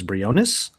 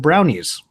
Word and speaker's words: Briones: My middle name is Briones, and everyone always pronounced it Brownies.